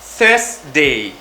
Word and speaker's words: Thursday: Thursday. On prononce ça en mettant la pointe de la langue entre les dents.